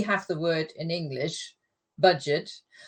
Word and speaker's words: Budget: the word in English, budget, but in German it's pronounced the French way.